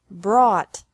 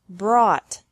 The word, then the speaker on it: brought: is the same bring brought brought buy bought bought catch caught caught fight fought fought seek sought sought teach taught taught think thought thought remember that the g is silent in these verbs verbs with three different